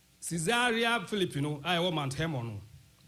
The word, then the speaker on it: Caesarea: Na interesting story we say mayanka Caesarea Philippi ho asam kakra Caesarea pocho enwanu pronunciation no Caesarea, that's it.